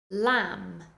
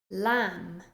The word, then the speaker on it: lamb: at some words with the silent letter B listen to me say the words and then repeat lamb lamb can you hear that even though there is a B in the spelling of the word you do not pronounce